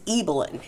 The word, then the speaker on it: Ibelin: in the movie so don't feel bad it's eelyn and um this is a Nordic name okay